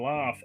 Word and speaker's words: laugh: pronounce something and and why do we pronounce a GH in laugh as an F yeah so there's all